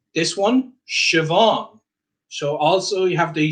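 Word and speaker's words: Siobhán: And then a BH, Siobhan. Now in some dialects this changes. In the dialect I would use in Northern Ireland, I would pronounce this Siobhan. Siobhan. So that can alter depending on your dialect.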